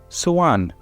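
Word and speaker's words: soğan: called let me say suan suan now suan means onion and this is actually so a-n so you don't pronounce the G you prolong the E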